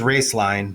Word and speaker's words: Roeslein: and uh so uh the name is raceline but it's spelled r-o-e-s-l-e-i-n and then Alternative Energy so raceline Alternative Energy yeah I had to practice